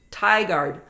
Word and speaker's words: Tigard: Moab good morning Karen Frank Goodman says it's Tigard oh thank you Ard